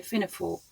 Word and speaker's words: Fionnphort: stay on a campsite near ffor uh that's how a local told me to pronounce it when I visited on a previous occasion Fino H the landscape